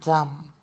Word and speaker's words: dumb: just a note that the b is silent in climb, comb, debt, and dumb. There might be other words similar, but when we have when we have a m and a b at the end, it is um it is silent. Meaning that there's no sound at all.